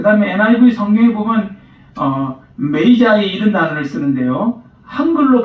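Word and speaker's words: magi: 그 다음에 NIV 성경에 보면 메이자이 이런 단어를 쓰는데요. 한글로 발음을 그대로 적으면 마기 이렇게 됩니다.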